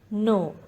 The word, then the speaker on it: know: The letter K is silent in this word. No.